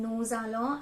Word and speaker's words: nous allons: a liaison effect between nous allons, and it's like actually joining the S and A, and we are pronouncing the S here.